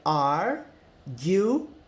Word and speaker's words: arguing: Não é arguing, igual a gente fala em português, que o G-U-I, você fala gui, né? Gui, de Guilherme. Não. É arguing. Arguing.